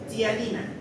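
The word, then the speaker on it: ptialina: Tiene otro nombre, también se le llama, aparte de la amilasa, tianina. La tianina, ¿no? Se escribe con P. P-T-I-A-N-I-N-A. La tianina.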